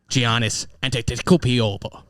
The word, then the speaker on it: Giannis: i know trey young and i know uh giannis nice good job that's exactly that's exactly how it's pronounced no i'm just thinking about the payout